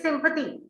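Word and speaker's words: sympathy: रेवा को शायद नहीं पता था, इसका प्रोनाउंसिएशन गलत हो गया। इट इज सिंपैथी।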